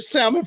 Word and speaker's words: salmon: I gotta feed my goldfish with the salmon flakes. What? that chick said, only thing you'd do is come over and catch an L for that L in salmon is silent.